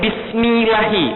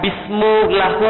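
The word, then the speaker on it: بسم الله: tidak tahu tapi kenapa bacanya ini Bismillahi bukan bismulahu atau bismiahu Kenapa Bismillahi pokoknya kalau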